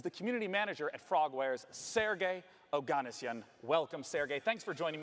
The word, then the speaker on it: Sergey Oganessian: It's called The Sinking City, and joining me to talk about it is the community manager at Frogwares, Sergey Oganessian.